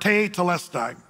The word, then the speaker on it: tetelestai: The Greek word for that is the word te telestai. You say, well, latida. Well, no, it's just one word, three syllables.